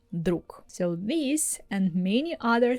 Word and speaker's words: друг: For instance, have you ever noticed that the word друг we pronounce with К sound at the end? We're not saying it the same way as it's written. We're not saying друг. We're not using clear Г at the end. We say друК.